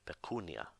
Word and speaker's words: pecunia: first syllable being accented the second rule is in a word with three syllables or more if the second last syllable is long then it carries the accent as in the word Pecunia below which translates as money